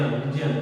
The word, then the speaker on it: विज्ञान: इस वजह से हम जिया कहते हैं, इसको जिया, विज्ञा कहते हैं, जिया, जिया, विज्ञान, ठीक है। ऐसे बहुत सारे शब्द हैं, ठीक है, जो हम इसका उच्चारण क्या करते हैं?